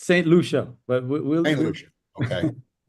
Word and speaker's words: St Lucia: Nick is sitting in St Lucia in the Caribbean islands. Did I get that pronunciation reasonably correct? Well, you're in the neighborhood there, Glenn. It's St Lucia, but we'll St Lucia.